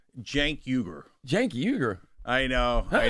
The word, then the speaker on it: Cenk: Sank is it? It's Weaguer, right? Jenk Uer. Jenkuger. I know. I know. It's a giant pain in the ass. This seems pronounced like a J.